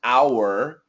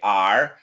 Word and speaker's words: our: you our R and the perfect pronunciation is our but almost always we say are so we can say